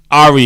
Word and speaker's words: Aria: It's actually Aria. Aria. You got to That put was- the he- emphasis on the right syllable.